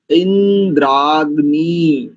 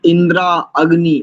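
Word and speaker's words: इन्द्राग्नी: है तो शन इंद्रा इंद्रानी कुछ लोग इंद्रा अग्नि ऐसा करते हैं यह भी अशुद्ध है इंद्रानी नकार में इ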